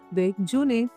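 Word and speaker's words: déjeuner: जब भी एक्सेंट आता है तो ई का जो साउंड होता है वो बढ़ जाता है।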